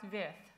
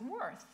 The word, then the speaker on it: Wirth: This weekend I met with Griesemer and I made the American mistake of pronouncing Wirth's name as Worth. And he said, oh, well, Americans pronounce his name by value and Europeans pronounce his name by reference.